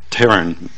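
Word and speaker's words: pterin: But then the business end of this cofactor is a 6-methyl taurine. I think the P is silent.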